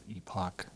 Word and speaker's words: epoch: pleaene to the holysine epic. And for those of you that don't epic epoch, okay, fine. Epoch, whatever. Or there's a epic. It's epoch.